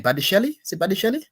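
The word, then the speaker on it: Badiashile: How do you pronounce his name? Badishele? Is it Badishele? Badishele, yeah.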